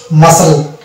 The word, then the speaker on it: muscle: তারপর হচ্ছে MUSCLE, মাসল, এখানেও সিটা সাইলেন্ট হয়ে যাবে, হ্যাঁ, মাসল।